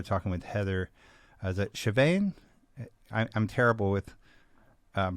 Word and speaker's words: Chauvin: Is it Chauvin? I'm terrible with That is pronunciations, but did I get it right? Chauvin.